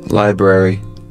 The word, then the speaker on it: library: Library。